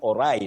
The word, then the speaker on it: awry: Things went awry, not ori.